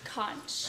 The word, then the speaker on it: conch: It's pronounced conch.